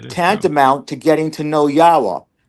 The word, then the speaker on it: Yahweh: And the 4 letters in Yahweh's name are all vowels. Each one of them has their own sound. So the Y is like the Y in yes, yeah. And the first syllable there would be ah, and